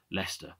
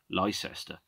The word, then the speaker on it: Leicester: home at university in in leicester or if you pronounce it correctly lycester as i've heard a tourist call it uh i shouldn't